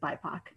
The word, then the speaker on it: BIPOC: I didn't know how to pronounce it at first either, but it's pronounced BIPOC.